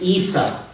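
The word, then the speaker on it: عيسى: name Jesus name in the Syriac or Aramaic pronunciation is yeshu not this you know what it is in Arabic it's Issa in Arabic that's what it is Issa Arabic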